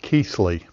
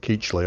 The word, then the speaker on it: Keithley: It is Mitchell of Keithley. Uh not Keechley. I keep saying Keechley. I saw a video where that was how it was pronounced.